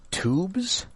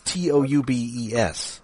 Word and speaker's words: Toubes: Written by Guy, I think this is pronounced Tubes. It's Toubes. So, yeah, that's Tubes.